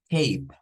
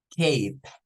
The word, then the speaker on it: cape: Vamos a cambiarla y nótese acá, comienza con K, pero miren quién está en medio. Vuelve a aparecer la E, o sea, sonido largo. Entonces, esto se pronunciaría como cape, cape, es una capa.